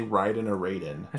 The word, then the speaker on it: Raiden: Ty I have a question did you say Ryden or Raiden I said Raiden it's Ryden right it you know what makes me laugh because it's spelled the same way r a i d